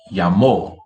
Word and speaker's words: llamó: Llamó. Llamo, llamó. Llamo, llamó. Practico, practico, practicó, practico, practicó, practico, practicó. Uso, usó, uso, usó. Can you hear the difference in the pronunciation?